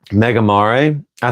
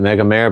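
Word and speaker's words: Megamare: he did not like Mega Mar. I think he I think some people pronounce it megaare, but I've been told it's pronounced Mega Mari.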